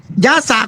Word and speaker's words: ยสะ: สหาย ยสะ กุลบุตร อ่า บาง ที เรา ไป ฟัง เสียง พระ ยศ ขึ้น มา อ่าน พยศ ขึ้น มา เอ้ ก็ คือ มัน อ่าน ภาษา ไทย แต่ ย สะ เนี่ย มัน ออก เสียง เหมือน บาลี ที่ นี่ วุ่นวาย หนอ